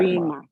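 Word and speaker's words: barima: You say Berma. Berima. That's a different thing.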